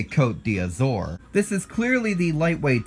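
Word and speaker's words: Côte d'Azur: like you see it here's one that I've always said a little differently that's changed through the years caught dizzer it's actually it's French for the azure coast but as we can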